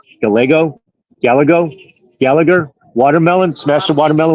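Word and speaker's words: Gallego: in hispan or whatever you don't pronounce the two L's together so it's like Gayo GGO gallago Gallagher watermelon smash the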